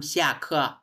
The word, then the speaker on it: 下课: 下课 হ্যাঁ, সিয়া খ নট সিয়ে, এটা উচ্চারণ কি সিয়া, সিয়া খ মানে হচ্ছে ক্লাস ইজ ওভার, ক্লাস শেষ।